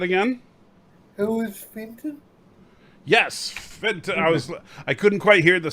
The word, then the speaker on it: Fenton: Who was Finton? Say that again? Who was Finton? Yes, Fenton. I couldn't quite hear the second syllable the first time.